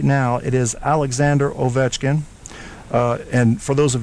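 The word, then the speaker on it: Ovechkin: now it is Alexander oetkin uh and for those of you that don't know in Russian it's pronounced Alexander Aitkin and yeah you can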